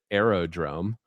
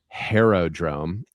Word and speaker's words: Aerodrome: Like, another one that I didn't want to leave out, my favorite, Aerodrome, or as my Italian and French friends pronounce it, Aerodrome.